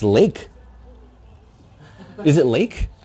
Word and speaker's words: Lache: us bogey 79 was an interesting trivia here pronounced lake that's some good bogey bogey 79 dropping some knowledge in this room it's pronounced lake lake sea strong according to it's spelled l-a-c-h-e